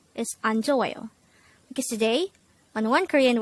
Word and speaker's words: 안좋아요: study about the word anjoyo. Let's start. Learn Korean one word at a time, only here at Dae-Hangul. Word number 155. Anjoyo. Anjoyo. This is pronounced as a four-syllable word.